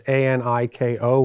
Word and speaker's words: Annika: That's Aniko with an accent on the O.